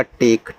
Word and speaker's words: take: TAKE, अब देखो ए के बाद एक लेटर छोड़ करके ई है तो ए का उच्चारण ए की मात्रा के रूप में, तो टी से आपका